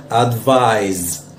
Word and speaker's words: advise: لذلك the proper pronunciation of it is، النطق الصحيح بتاعها يعني بيكون advise advise.